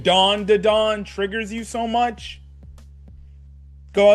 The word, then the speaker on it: Dan Da Dan: If me saying dawn to dawn triggers you so much, go outside, go touch grass.